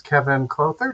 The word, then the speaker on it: Kevin Clouther: and we have a special guest with us Kevon closer did I pronounce that right and very well Charles all